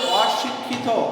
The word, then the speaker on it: অশিক্ষিত: তোমাদেরকে আমি বলেছিলাম যে অ এর পরে যদি রস্বইকার থাকে তাহলে অ এর উচ্চারণটা ও এর মতো হয়ে যায়, কিন্তু এইখানে কিন্তু এই অশিক্ষিত এটার একটু ব্যতিক্রম। এখানে কিন্তু এই অটা এটা ও এর মতো হবে না, এটা একটু ব্যতিক্রম।